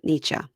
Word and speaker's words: Nietzsche: Friedrich Friedrich Nietzsche. I just did a Google thing where it told me how to pronounce it. Nietzsche. Okay. So we were both saying it wrong.